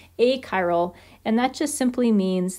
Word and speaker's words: achiral: as being a chiral sometimes people want to pronounce that a chiral um it's a hard ch sound so it's a chiral a chiral and that just simply